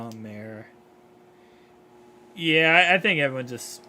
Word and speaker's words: Mayer: Oh my gosh, it's Mayor.